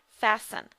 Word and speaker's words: fasten: the s in fasten remember we do not pronounce the T on that word fasten and then we have